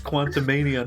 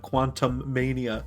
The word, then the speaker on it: Quantumania: It's Quantumania, not Quantum Mania.